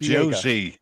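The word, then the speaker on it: José: Josie or OC or Jose. Jose Villegas. Josie is the correct pronunciation in the English term because that's how it's spelt.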